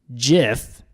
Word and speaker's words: GIF: in the FAQ section it states the gif parentheses graphics interchange format in parentheses pronounced jiff pronounced quotations ji F in quotations was designed by CompuServe